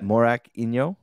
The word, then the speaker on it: Morakinyo: justin semani and i'm here today with tola morak inyo did i say it right yeah morak inyo it's like you're a little confused but yeah